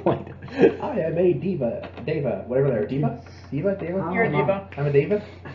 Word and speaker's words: Deva: I think day. The word like not night. Day. Deva.